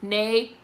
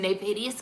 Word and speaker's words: Nevadius: Nevadius is pronounced exactly the way that it's spelled. It's Nevadius. That was a good skit. It does sound like a spell. I'm crying. Nevadius cash.